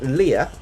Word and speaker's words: Lia: We have, I believe it's pronounced Lia, L-I-A.